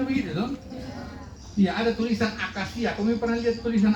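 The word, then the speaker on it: acacia: Iya, ada tulisan akasia. Kamu pernah lihat tulisan akasia? Tulisannya A-C-A-C-I-A. Dua C-nya tuh. Tapi begitu dua-dua tidak sama bacanya. Yang satu A, yang satu sia.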